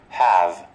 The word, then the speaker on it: have: Mà cuối cùng là chữ vờ nha mọi người, cho